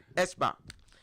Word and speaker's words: Eschbach: Eschbach.